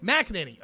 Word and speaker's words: McEnany: McEnany. Okay, I always mispronounce it.